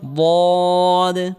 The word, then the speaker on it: ضاد: صاد صاد صاد صاد صاد صاد ضاد ضاد ضاد হরফটিও মোটা করে উচ্চারণ করতে হবে।